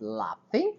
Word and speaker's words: laughing: Just laughing, olha a pronúncia do GH. Laughing, é um F aí em português. Laughing, não, em português não, o som de F.